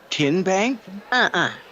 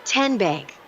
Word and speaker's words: TN Bank: How do you say the name? TN Bank? Nope. Tin Bank? So what is it? 10 Bank. 10, as in Tennessee.